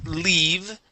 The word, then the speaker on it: leave: uh let's go to leave instead of live okay give me a good e sound there long e leave leave it in